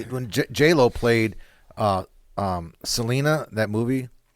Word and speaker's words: Selena: Yeah, Selena.